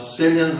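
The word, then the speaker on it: sillion: Cillian has the first syllable, same first syllable as the word silver.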